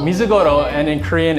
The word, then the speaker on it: Mizugoro: Okay, so in Japanese it's Mizugoro. Mizugoro, and in Korean it's Mulchangi.